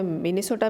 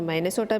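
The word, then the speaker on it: Minnesota: तो किसी ने इसे माइनेसोटा बोला है और किसी ने इसे मिनेसोटा बोला है।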